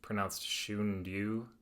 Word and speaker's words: Shunryu: Suzuki, and then Zen Mind, Beginner's Mind by, I think it's pronounced Shunryu Suzuki. I think there's a couple ways people pronounce it.